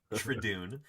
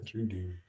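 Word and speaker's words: Troodon: Um, so we've heard how you pronounce the name Trodon. Uh, you don't say Tradune. Um, yeah. Yeah. Trun.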